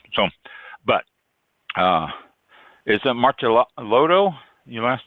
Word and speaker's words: Martellotto: blow to him so but uh is it Martel loo your last name that's right yeah marcelot is the the American pronunciation that works I'm American that's how I